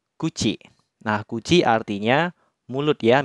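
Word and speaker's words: 口: Cara penggunaan yang pertama, ketika kanji mulut berdiri sendiri seperti ini, dia dibacanya kuchi.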